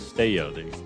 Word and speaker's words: Estella: we're off to Estella or as how they pronounce it here it says stay LD double l is like a white here we're